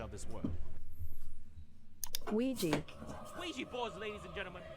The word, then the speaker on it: Ouija: To give us the proper pronunciation of this word. Ouija.